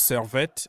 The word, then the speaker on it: Servette: me out People's Republic you know how to pronounce servet or is French you should know it's French